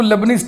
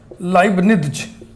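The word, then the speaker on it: Leibniz: और ये जो देख रहे हैं आप तथ्य, इसी को लेबनीज टेस्ट भी कहते हैं. लेबनीज टेस्ट हम लोग इसको पढ़ते हैं, लेकिन हिंदी में इसका उच्चारण होता है लाइबनिज.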